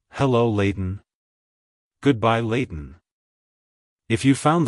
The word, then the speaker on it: Layton: to pronounce it correctly emphasize the lay sound followed by a soft t and on sound at the end like hello Leighton goodbye Leighton if you